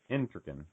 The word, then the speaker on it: Entriken: Accent on the front syllable. Entriken. Entriken. And good. There is no C in that name either. Gotcha. Yeah. The most common mispronunciation is Entriken. And I always tell people there's no trick in Entriken.